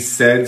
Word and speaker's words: said: So, aquí said se pronuncia con un sonido corto, desafortunadamente.